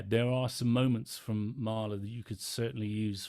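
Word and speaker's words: Mahler: or can you recommend any mailer m-a-h-l-e-r is that right Rebecca are you still on the call sorry can you spell it again a-h-l-e-r oh Marla yes sorry that's Gustaf Marla well Gustav Marlo is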